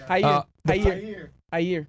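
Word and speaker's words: Jair: of ha bolsonaro right is that how I pronounce it hair with Jay is that Portuguese yeah Haier Haier okay Haier bonaro the far-right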